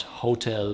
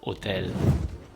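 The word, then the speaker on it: hôtel: And then the H is always silent, like in all Romance language I know so far. So it's not hotel, but for example hotel.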